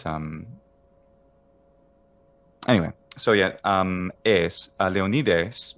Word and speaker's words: Leonidas: anyway so yeah um leonides would be the attic ending es like uh alcibiades whereas the doric version of that would be alcubiad right so i'm not too far off if i say they all need us i mean it's perfect so oh okay and